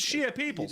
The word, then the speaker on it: Shia Peoples: Did I not say it right? It's Shia Peoples. You did.